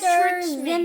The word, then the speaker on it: Yastrzemski: All right, which of you young collectors can pronounce this guy's last name? Carl Yastrzemski Yes, Yastrzemski.